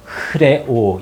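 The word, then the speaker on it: ῥέω: 그래서 이게 흐레오 이렇게 되어 있는 거예요.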